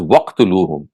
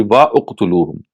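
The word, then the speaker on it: وَٱقْتُلُوهُمْ: So when we read it collectively, or jointly it would be pronounced as waqtuluhum. Otherwise, it would be wa uqtuluhum.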